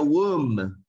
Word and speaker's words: womb: Otra palabra sería womb, womb, que es el vientre donde la mamá guarda el bebecito cuando está a punto de nacer. Womb, womb. No se pronuncia la B.